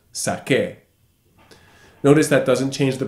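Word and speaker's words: saqué: e with an accent sac a notice that doesn't change the pronunciation we don't pronounce the U the U is just in there it's a placeholder between the Q and the e in order to keep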